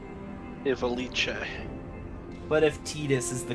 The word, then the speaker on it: Ivalice: Evilise. Yeah. Evilise. I've heard it pronounced both ways, but I think Evilise is the canon one. Ivalice.